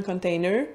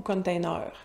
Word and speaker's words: container: Il y a comme deux façons au Québec de prononcer le mot. On pourrait dire un , le prononcer en anglais ou... Ça dépend des régions, à partir de Québec plus vers l'Est, au Lac-Saint-Jean aussi, ils vont prononcer beaucoup .